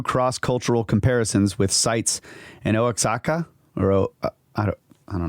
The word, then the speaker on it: Oaxaca: is that it yeah oaxaca oaxaca okay so the x is like an h yeah that's what it